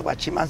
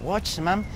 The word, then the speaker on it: watchman: que llaman que watchman no se dice guachiman sino watchman entonces me toca hacer